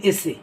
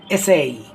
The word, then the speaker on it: essay: হ্যাঁ, বড়োবেলায় এসো আমি যখন এই ইংলিশ অ্যাকসেন্টটা আমার ভিতর যখন মানে কারেকশনটা আসেনি, তখন আমি ওটাকে বলতাম এসে।